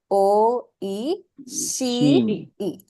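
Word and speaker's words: おいしい: please she right o she e so here you see the underlined Ka she is the one that is being elongated and since she has a e sound you will add a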